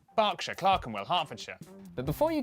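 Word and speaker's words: Berkshire: is silent Norwich Beric suuk e r is pronounced R barkshire Clarken Harford but before you get too reassured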